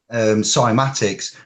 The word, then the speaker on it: cymatics: look at the subject cymatics which is spelt weirdly for a dyslexic man with a k' it sounds like an S I know but K